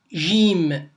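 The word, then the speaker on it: ج: Donc je répète, ça se prononce Jim.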